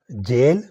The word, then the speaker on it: gaol: Pair number 31 GAOL جیل، اور اس کے پہلے جو ہے پرانے اسپیلنگ کہہ لیں وہ تھے JAIL جیل، قید یا جیل.